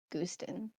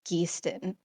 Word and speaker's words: Geeston: This is how she comes to Gooston. No, sorry, Geeston.